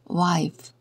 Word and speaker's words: wife: wif 2 이렇게 적습니다 W 여기서는 와로 소리 나구요 아이는이 f는 피읖 소리 역시 마지막에 2는 소리 내지 않습니다 그래서 wife wife라고 읽습니다 알파벳 x예요 대문자 x